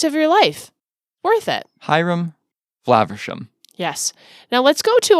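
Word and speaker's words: Hiram Flaversham: would pronounce his name his name is hyam flaversham hyam flaversham yes not Haram it is not Haram the the man is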